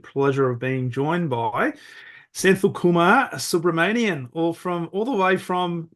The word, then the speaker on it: Senthil: Yeah, Senthil.